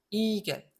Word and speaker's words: Igel: 이거는 단어 맨 끝에 나오는 게 아니니까 이히가 될 이유가 한 개도 없는 거죠. 이겔.